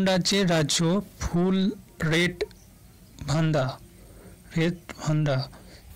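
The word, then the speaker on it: Red Vanda: রেড ভান্ডা, উচ্চারণটা হবে রেড ভান্ডা।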